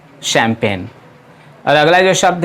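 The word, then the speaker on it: champagne: पड़ते हैं चैंपियन और उसमें जी साइलेंट है जैसा मैंने पहले बताया कि फ्रेंच भाषा में सीएस से शो बनता है क्यों नहीं इसीलिए इसे पढ़ते हैं शैंपेन अलग-अलग यह शब्द है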